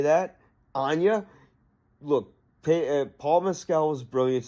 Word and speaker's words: Agnes: people have pronounced it Agnes. It's spelled that way, but in the movie they say Anya. So I'm going to say that. Anya.